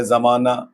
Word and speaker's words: زمانہ: ہائے مختفی کہتے ہیں۔ جیسے کہ لفظ ہے پروانہ، ایک لفظ ہے زمانہ، تو جتنی لفظ ہے یہ جو لفظ ہے وہ لفظ لکھا ہا تو لکھی جاتی ہے لیکن وہ ہا پڑھی نہیں جاتی۔ اگر ہا لکھی بھی